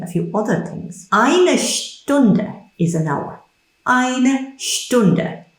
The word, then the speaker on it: Stunde: Remember the sh sound at the beginning. Eine Stunde, an hour.